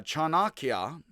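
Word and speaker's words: Chanakya: And victorious cha chanaka again. Chanaka, I think to try to pronounce all the syllables equally rather than uh second to last.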